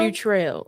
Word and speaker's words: Futrell: Okay, give me the pronunciation one more time. Quinea. Quiniana Bam. Futrell.